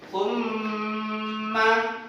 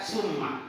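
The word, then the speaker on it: ثم: Ya, mim tasdid dan nun tasdid itu hukum bacaannya adalah guna. Cara membacanya adalah dengung ke keras. Coba kita dengarkan Pak Guru. Summa. Nah, itu tidak boleh baca summa, tapi ada dengung keras.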